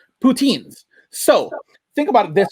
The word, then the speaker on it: poutine: of routine you know what also rhymes rhymes with the routine poutines so think about it